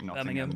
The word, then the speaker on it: Nottingham: Anywhere with ham as well as just um not ham. So like Nottingham Birmingham. Yeah. Roardom. Yeah. Sorry. H isn't a letter here.